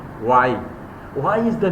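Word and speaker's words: Wye: river what's the name of the river river why why speak with me pronounce with me River Why River Why during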